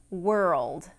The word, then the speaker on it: world: Okay, the two words are girl and world. And what makes these two words difficult to pronounce is the combination of the R vowel and the dark L.